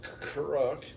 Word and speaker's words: chruk: and now we're doing a pronunciation of crook is crook so that's translated from the cambodian language of kamar to english means to pickle heat level hot chilies